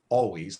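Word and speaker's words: Alvvays: Um, yeah, another band called, I think it's pronounced Always, but it's With like spelled two more like V's.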